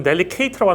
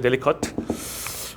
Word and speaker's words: delicate: 그 다음에 이제 김지영 선생님은 이건 delicate라고 하는데 delicat이에요. delicate.